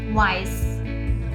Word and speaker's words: weiß: That is double S is equal to etc, and it is pronounced as S. S here is used in the word weiß.